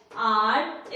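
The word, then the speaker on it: hour: तो यहाँ पे एच जो लिखा है वो क्या है गाइस? साइलेंट है। क्या है? साइलेंट है, ठीक है। बट यहाँ पे इसको पढ़ते क्या है? आर पढ़ते हैं। क्या पढ़ते हैं? आर। क्या पढ़ते हैं? आर। आवाज किसकी आ रही है? अ की आ रही है।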